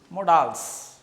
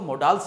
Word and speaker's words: modals: ठीक है, वैसे इसकी प्रोनाउंसिएशन तो मोडाल्स ही है, पर बहुत सी जगह इसको मॉडल्स करके भी पढ़ा जाता है। ठीक है, पर इसका सही प्रोनाउंस इसको किया जाता है मोडाल्स करके। ठीक है, लेकिन लोग बाग बच्चे भी मॉडल्स करते रहते हैं, तो ठीक है, वो मॉडल्स बोलते हैं तो उसमें कोई परेशानी नहीं है ना। हमको प्रोनाउंस इसको सही करना है और इसका प्रॉपर नाम है मोडाल्स।